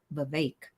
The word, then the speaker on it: Vivek: because I finally learned how to say his name correctly he said it rhymes with cake Vivek um all Flash no